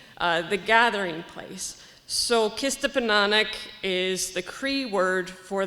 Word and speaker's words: Kistapinanihk: very much everyone um nice try on the pronunciation it's a difficult it's a difficult one um so our project kista pananic omakia mokochi the gathering place so kista penanic is the kree word for the gathering place